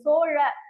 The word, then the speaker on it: சோழ: மாறிடும் ஓகேவா சோழ மண்டலம் ஐரோப்பியர்களின் உச்சரிப்பால் திரிபடைந்த வடிவம்தான் வந்துட்டு கோரமண்டல் அப்படின்னு வந்து ஐரோப்பியர்களால வந்துட்டு அந்த சொல்ல முடியாது நம்மளோட சோழ ழ அப்படின்ற ஒரு இதுவே வந்து தமிழுக்கான ஒரு தனி சிறப்பான ஒரு எழுத்து அதை வந்துட்டு சொல்ல முடியாது அதனால அவங்க எப்படி அவங்களுக்கு ஏத்த